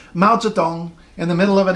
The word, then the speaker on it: Mao Zedong: see this whole name Mao Zedong in the middle of an English sentence you don't have to say mounts it on it's fun Mao Zedong don't say melted down come on on you